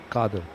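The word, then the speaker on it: Qadir: Kadir Abdul khad what what's the proper pronunciation kader so used to be called Kadir by certain people but K is the right pronunciation so I mean it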